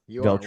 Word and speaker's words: Veltri: Veltri?